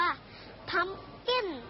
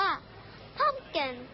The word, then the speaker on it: pumpkin: คือ ฟัก ทอง ค่ะ ฟัก ทอง ภาษา อังกฤษ แบบ ไทย ๆ ออก เสียง ว่า พัมกิ้น แต่ ฝรั่ง ออก เสียง ว่า พ้อม แก่น ตู้ ปัก นั ชา